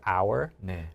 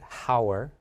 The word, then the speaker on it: hour: even if it's written just like in English the word hour we don't pronounce it Hower right so just like